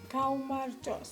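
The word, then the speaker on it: გაუმარჯოს: Kaumarjos.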